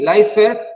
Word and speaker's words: laissez-faire: Ok, entonces vamos a hablar de algo que se llama, o bueno, que en francés se pronuncia laissez-faire. Yo de francés no tengo ni idea, pero se pronuncia así, laissez-faire, y es la filosofía del dejar hacer.